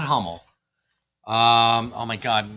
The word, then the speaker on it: Hummel: Although, and I do know that it's pronounced Hummel, Silver Knight, Kyle.